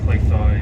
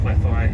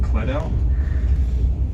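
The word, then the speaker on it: Cleddau: clay fire valley so depending on how you pronounce it it's either clay thigh or clef eye you see it's spelt c-l-e-d-d-a-u so for ages i was saying clad out one day i had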